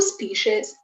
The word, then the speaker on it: species: So when I want to say 1 species and I want to say 2 species, species will be the same.